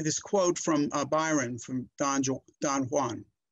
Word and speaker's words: Don Juan: But I want to start by this quote from Byron, from Don Juan. It's actually pronounced Don Juan in English literature.